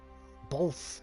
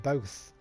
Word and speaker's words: both: Yeah, some Americans say both instead of both. They put like an L in there. They say it as if it's spelled B-O-L-T-H. I had to look that